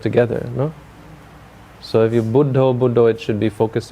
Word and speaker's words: Buddho: The mantra they use is Buddho, Buddho. You know this? You heard the Thai people using this? Buddho. They say Putto, Putto, if you know. Because they have strange pronunciation of Buddha.